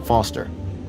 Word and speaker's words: Foster: pickle so it does I'm Foster I'll remember that easy because your name runs with fossil and you're old thanks